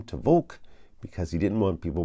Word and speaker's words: Volk: and and say my last name out loud vul simple right v o l k right over the years I've had people spell it b o l k v o k